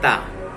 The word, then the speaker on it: the: এই যে দা, এটার উচ্চারণ হলো দা। মনে রাখবেন, টিএইচ একটা আর্টিকেল, এ কোনো ওয়ার্ড সাথে করে নেবে। যে ওয়ার্ডটাকে সাথে করে নেবে তার প্রথম অক্ষর যদি কনসোনেন্ট হয় তবে দা উচ্চারণ করব, আর তার প্রথম অক্ষর